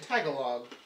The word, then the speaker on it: Tagalog: means garlic boy and Tagalog Tagalog technology yeah it's tagalog tagalog ok put the emphasis on the wrong celeb pandan cake is the